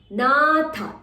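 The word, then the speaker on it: नाथ: Nilimpa, nilimpa, natha, tha stress, nagari.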